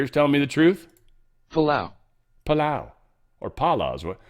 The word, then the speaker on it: Palau: Yeah, how to pronounce Pala. I had to look that up. Couldn't spell that. What else did I look up? What other crazy shit? Pala. I hear it. Let's listen, guys. Let's listen together. Palau. Oh, it's Palau now?